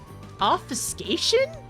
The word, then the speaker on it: obfuscation: Obfuscation? Wow. Like vacation. Obfuscation. Got it.